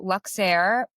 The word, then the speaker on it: Luxeire: So, Luxair, we are a motherdaughter-owned clothing brand that is